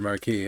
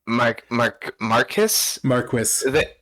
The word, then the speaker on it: marquis: One of the readers in this reading really did not know how to pronounce the word marquis. I'll tell you that much. Oh yeah, Marcus.